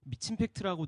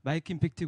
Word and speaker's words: 마이크임팩트: 분 오 많으시네요 감사합니다 사람들이 되게 미친 팩트라고 읽으시고 되게 마이크로 임팩트 이렇게 늙습니다 그래서 저희는 미치지도 않았고 이게 최소의 임팩트를 만들지도 않고 마이크로소프트의 자회사도 아닙니다 그래서 마이크 임팩트 그요 어 이제 소셜 벤처